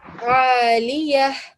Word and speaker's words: aliyah: read it well, but you didn't give the ha sound properly, yeah? Yeah. So aliyah. Aliyah. Beautiful. Now I can hear the ha at the end, and I know that